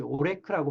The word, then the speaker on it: ORAC: 항산화 효과는요, ORAC, 오레크라고 발음하는데요.